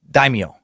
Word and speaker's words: daimyo: are correct yes yes the correct pronunciation is daimyo I think I'm saying right now I wrote it out phonetically for myself has died me yo daimyo Daniel in my defense